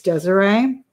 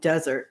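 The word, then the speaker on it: Deseret: It's Desiree. I was calling it desert. I didn't know how to pronounce it.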